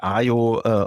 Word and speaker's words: aiio: And this is our ongoing journey here at aiio, also to change the process of selling a B2B tool online. Okay, that's an interesting approach. Yeah, great. You already mentioned the name of the tool. It's aiio, as I learned.